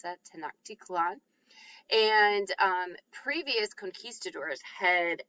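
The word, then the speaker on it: Tenochtitlan: to um hear about this place um called tanaktikalan which is right here that's how you pronounce that tanaktikalan and um previous conquistadors had attempted to sort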